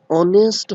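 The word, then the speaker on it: honest: बिल्कुल सर, ए का यूज कर देंगे, नहीं गलत हो जाएगा, क्योंकि इसकी जो प्रोनाउंसिएशन होती है वो ऑनेस्ट होती है। तो साउंड, स्वर आ रहा है, तो यहाँ पे क्या आएगा?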